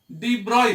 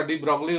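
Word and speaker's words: de Broglie: और इस रिडल को सॉल्व किया डी ब्रॉय ने। हम लोग चाहे तो इसका डी ब्रॉगली उच्चारण कर सकते हैं। ये फ्रेंच साइंटिस्ट डी ब्रॉय थे।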